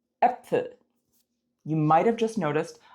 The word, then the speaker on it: Äpfel: Say bet or fed. It's also the eh in hello. Some examples of this sound in German, spelled with the A umlaut, are Männer, Hände, Bälle, Äpfel.